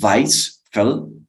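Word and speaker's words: Weisfeldt: Entonces, hay un autor llamado Weisfeld, se pronunciaría más o menos en alemán, Weisfeld, quien dividió el paro cardiorrespiratorio por causas desfibrilables en tres fases.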